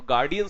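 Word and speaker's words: guardian: है तो चलने दीजिए फिर तो गार्डियन सही शब्द है गार्जियन नहीं होता ऐसे बहुत सारे हैं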